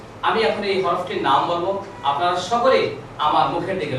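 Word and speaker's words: ب: leaf সবাই আমার সাথে একসাথে বলুন আলিফ আবারো বলুন আলিফ সবাই আরেকবার বলুন আলিফ বন্ধুরা এভাবে বারবার বলতে থাকুন প্রাকটিস করতে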